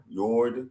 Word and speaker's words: fjord: Yord.